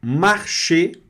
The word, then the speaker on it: marcher: Esse R vai ser pronunciado porque está no meio da palavra, marcher. Esse R aqui não. E esse ER vai dar o som de E fechado.